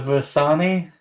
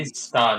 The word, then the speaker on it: Vistani: Vestani. Vist. V-I-S-T. Vistani, Vist. okay. That's what I've said. You said Vistani. Visani and Dasani and Dasanti. Vistani.